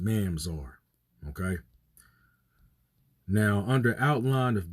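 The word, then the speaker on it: ממזר: Mamzer, but really it's pronounced Mamzar.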